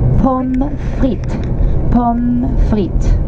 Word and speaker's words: pommes frites: French fries is pommes frites.